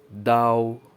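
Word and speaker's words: 刀: knife you can see the character knife is pronounced as Dao number four we have cutting board for chopping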